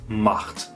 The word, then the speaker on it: Macht: guy right here gabriel mack or since his last name is a german word it's pronounced macht which means force i choose him because